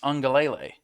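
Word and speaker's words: Uiagalelei: clemson coming up is i've heard it pronounced ungalilee so there's an n and an n sound in there even though he doesn't have an n in his name kj handler carson wentz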